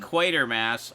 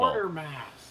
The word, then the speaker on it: Quatermass: Quatermass. All of you wrong people. Quatermass.